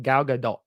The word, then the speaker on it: Gal Gadot: asked her how to pronounce it and she's pronounced it Gal Gadot like it's like the T sort of sounds